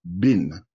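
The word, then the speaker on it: בן: droite bin Yamin donc le mot fils en hébreu c'est bin mais ça s'écrit ben ça s'écrit Ben et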